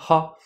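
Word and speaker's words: は: écrit avec le hiragana ha, lorsqu'il va s'agir d'intonation, là on parle simplement de phonétique, on va l'écrire bien sûr avec le katakana wa, parce que même si c'est ha, ça se prononce wa, donc vous comprenez le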